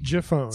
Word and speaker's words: Giffone: last name but your phone juh phone Jeff owns like giraffe like giraffe all right well